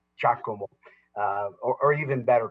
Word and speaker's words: Giacomo: you madam mayor the the name is spelled actually jesus and golf i-a-c-o-m-o there's no uh uh but it was a giacomo uh or even better